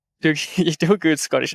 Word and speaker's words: Doogie: well, Douglas, or Dad, the Scottish pronunciation of the nickname of Douglas. Doogie. Doogie, you do a good Scottish accent.